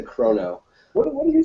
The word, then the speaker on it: Chrono: Chrono, like chronology. You say Chrono. I say maybe it's a Ohio thing. We always say Chrono.